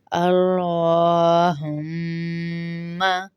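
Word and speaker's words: اللّٰهُمَّ: وہ صحیح ہوتے ہیں۔ صحیح پروننسیشن یہ ہوتی ہے، صحیح ادائیگی تلفظ یہ ہے۔ اللہم، اللہم، اللہم صلی علی، اس طرح سے پڑھیں گے۔ اب اگلا دیکھ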